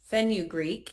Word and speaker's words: fenugreek: Why do we use wild yam instead of um fenugreek in balance? I have no idea if I even pronounced that right, but I'm sure you'll correct me, Steve. You pronounced it right.